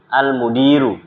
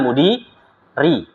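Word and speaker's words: المدير: khabar dikedepankan baru mubtadanya Maka bacanya fiha almudi almudiru Ya fiha almudiru bukan Mudi RI Kenapa karena kalau dibaca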